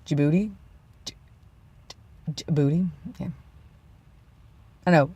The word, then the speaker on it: Djibouti: and the same with Djibouti you see you can almost hear the D there Djibouti Djibouti okay I know